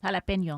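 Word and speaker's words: jalapeño: Excuse me, David, pronounce it correctly for me. jalapeno A jalapeno situation.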